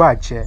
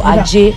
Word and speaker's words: Aje: That's Ilu Aje, not Aje. They are spelled the same way, A-J-E, but different pronunciation.